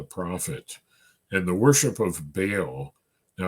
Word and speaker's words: Baal: and the worship of Baal now I know there right way to pronounce it is ba but but um you know in English we usually just say baale Okay so the worship